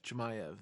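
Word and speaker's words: Chimaev: and then hazmat chimeve um chemie of chemiev that's how you say it i want to see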